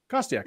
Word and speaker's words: Kostiak: your name for everyone your official pronunciation is is kostiak I said I said